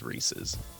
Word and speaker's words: Reese's: Anyone who says Reese's Pieces should feel stupid because you're supposed to rhyme it. It's Reese's because it rhymes with pieces.